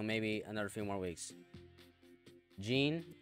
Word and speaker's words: Jean: another few more weeks gene as in jeans since that's how it's pronounced in the game it's the american way boys it's literally a